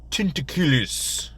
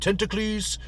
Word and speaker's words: Tentaculus: very strange character Dr tin tequilis is I think the tallest pronounced I keep pronouncing it tentacles but that's only because I forget to put in that extra you right after the sea but anyway Knoxville tentacles